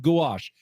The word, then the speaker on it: gouache: Gouache, spell it. Gouache. Gouache. Gouache. Like a goo.